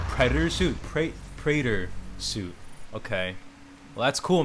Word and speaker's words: Praetor: Praetor suit, that's how you say it. I could not pronounce it for shit.